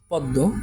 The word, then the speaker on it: পদ্ম: যেমন এটা কিছু উদাহরণ যদি দেখি, যেমন পদ্ম, এটা আমার নাসিক্য হয়ে উচ্চারিত হবে। যেমন পদ্ম, নাকের মধ্যে একটু বাজিয়ে আমার উচ্চারণ করতে হবে, পদ্ম, ঠিক আছে, নাকের মধ্যে বাজিয়ে।